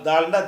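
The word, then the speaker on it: د: தால் அடுத்து என்னது தால் தால்ன்னா தானா தானா இல்ல தால் தாள்னு சொன்னா பந்து பந்தல் தமிழ்ல தானாவா இருந்தாலும் ஒரு இந்த நா வரும்போது வரும்ல உச்சரிப்பு அந்த உச்சரிப்பா மாறிருது இல்ல இதான் தால் என்பது தால்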